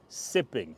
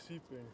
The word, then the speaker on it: seeping: Like sipping instead of spraying. You were making fun of me last time when I was saying that. Seeping.